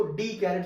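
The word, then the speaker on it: Descartes: था रेन डेस्कैरेट्स या कुछ लोग उसको डी कैरेट्स भी पढ़ते हैं। जो भी फ्रेंच में उनका प्रोनाउंसिएशन होता हो, क्योंकि जो लोग पढ़ते हैं वो डी कैरेट्स बोलते हैं, तो वो एस को साइलेंट कर देते हैं।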